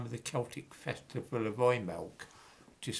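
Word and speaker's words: Imbolc: at the time of the celtic festival of roy milk which is spelt i-m-b-o-l-c or that the week off in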